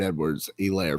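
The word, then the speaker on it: Edwards-Helaire: laughing at me it's just funny watching you pronounce that one it is what junior and it is clyde edwards elaire for me yeah i'm starting ceh even though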